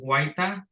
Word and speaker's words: Huayta: My last name is pronounced Huayta, so be Huayta.